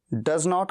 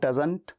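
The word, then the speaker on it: doesn't: डज नॉट का contraction डजंट। डजंट या फिर टी साइलेंट करके एडवांस इंग्लिश में तो डजन, जैसे यहां पर एडवांस इंग्लिश में डोन या हेडन या हेवन, वैसे डजन।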